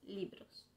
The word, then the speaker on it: libro: Sus libros. C'est important de dire aussi que libro c'est avec B et pas avec V. Alors, il faut bien le prononcer libro.